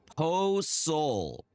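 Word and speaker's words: pozole: Po soul is the annunciation. Okay, got it. Po sole.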